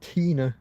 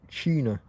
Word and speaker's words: Tina: explaining to Spanish that the name is Tina, not China, because I don't think Tina seems to exist here. They don't get it, and I guess I don't always pronounce, because I haven't got any teeth. I don't always pronounce some words like that with T's and S's as clearly as I might. So I would say Tina, como la cantadora, Tina Turner. Like the singer, Tina Turner.